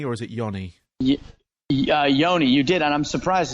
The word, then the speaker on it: Yonee: I did pronounce that right didn't I it's Yoni or is it yonni Yoni you did and I'm surprised as most people have been pronouncing it right lately okay cool I just